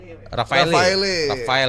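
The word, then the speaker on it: Rafale: Bacanya gimana? Rafael ya.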